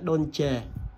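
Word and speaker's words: Dolce: và làm tay nha con này phải đọc đúng của nó luôn là đôn chề nhưng mà về Việt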